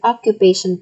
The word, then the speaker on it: occupation: So is the stress here on the word occupation correct? Occupation. Is it yes or no? Okay, that's right. The answer is yes. It is correct. It is on the third syllable of the word.